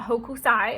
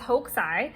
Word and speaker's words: Hokusai: wrong this whole time it's not Hokusai it's hoaxai like the U is basically silent so fun fact there